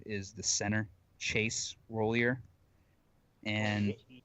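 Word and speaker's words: Roullier: actually plays or not, is the center, Chase Rollier. And Royer. How do you say his name? Roulier.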